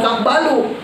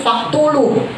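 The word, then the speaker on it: فاقبلوه: itu sama si raja bacanya bukan fakbalu tapi faktulu harusnya fakbalu iqbalabul menerima dia baca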